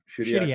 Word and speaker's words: Shediac: Is it Shediac? Shediac, New Brunswick. Actually, I was born. We were actually from Cap-Palais. It's a French little area, probably about, I'm going to say maybe 5 minutes outside of Shediac.